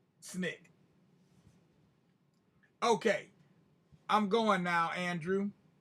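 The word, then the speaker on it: SNCC: student non-violent coordinating committee or snick which we pronounced snick okay i'm going now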